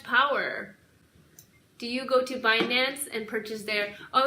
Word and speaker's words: Binance: Do you go to Binance and purchase their... Oh, I was watching CNBC today, and they said this guy was pronouncing it Binance. Yo, it is so not Binance, right?